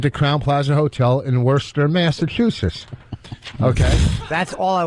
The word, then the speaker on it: Worcester: right say it again Worster yeah all right they like to call Worcester up there oh Worcester wer take the r out the r is silent you well take the